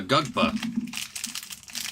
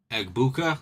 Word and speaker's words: Egbuka: True rookie Prism Silver of a Gugpa. A Gugpa. I can never pronounce this damn name right. I'm pretty good at pronouncing people's names, but Egbuka?